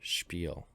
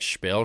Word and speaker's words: Spiel: so far rightel spel how you pronounce it Spiel interesting yep so wait if I said the children are gambling wait so it's like spill spell or something funny